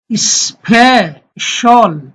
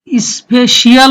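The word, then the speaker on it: special: Which এখানে হবে স্পেশাল। স্পেশিয়াল হবে না, শল হবে স্পেশাল।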